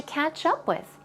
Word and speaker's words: catch up: We have so much to catch up with. We have so much to catch up with. Now, one thing, when it comes to the pronunciation of catch up, stress goes right there, catch up with, catch up with.